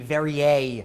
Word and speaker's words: Verrier: Verrier would be the way that New Orleanians would pronounce it.